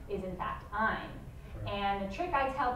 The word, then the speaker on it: Ayn: name is in fact Ayn. And the trick I tell people is that, in keeping with her philosophy, the correct pronunciation of her name rhymes with the word mine.